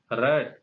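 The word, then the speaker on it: read: Verb का third part यहाँ पर पढ़ना है, रीड रेड रेड। आपका इसको इसका उच्चारण रेड पढ़ेंगे।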